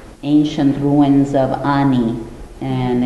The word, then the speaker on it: Ani: A lot of Americans say Annie, and this is a joke between Linda and I. My name is Ani, and it's the capital of ancient Armenia.